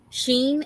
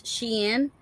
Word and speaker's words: Shein: So I've been saying it wrong this whole time, and now I'm learning that it's not Sheen, it's Shein, which in the spelling it Yeah, is Shein, but yeah.